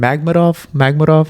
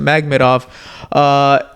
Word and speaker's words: Makhmudov: had Dave Allen take on how do you pronounce his last name? Makhmudov. Yeah. I'm gonna say that, Makhmudov.